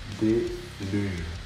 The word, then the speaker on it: Deluge: Deluge. G'day. the proper way to pronounce our band's name is Artre Billis.